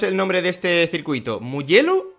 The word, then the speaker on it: Mugello: O sea, quiero decir, tampoco es tan complicado, es Mugello. Ya está, es italiano.